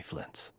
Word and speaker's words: Flins: My name is Flintz, but please, just call me Flintz. So that's how you pronounce that. Flins.